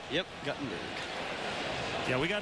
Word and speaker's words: Guttenberg: Yep, Guttenberg. Yeah, we got letters. I think I mispronounced it earlier this year, and we had a lot of letters from Guttenberg.